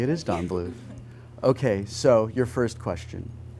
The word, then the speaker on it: Don Bluth: It is Don Bluth.